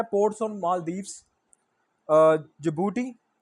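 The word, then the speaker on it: Djibouti: Ports on Maldives, जिबूटी, ये DJBOUTI है, ये जिबूटी सिर्फ जे से स्टार्ट नहीं है, डी स्टार्ट पहले में लगेगा।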